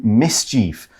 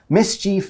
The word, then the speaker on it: mischief: And he's thinking he's going to use this day to do mischief. Mischief is bad behavior. You can say mischief, you can say mischief, both okay.